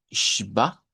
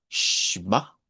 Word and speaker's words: Schwa: La SCH se pronuncia como SH. Entonces, casi siempre lo vamos a ver al principio. De hecho, cuando pensamos en el sonido de la shba, cuando hacemos así, shba, precisamente es con SCH, que se escribe shba.